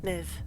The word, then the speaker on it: Medb: Is it, Medb? is my real name. Medbeast is my screen name. You can call me Medi if you like. Niv, that's how you say it.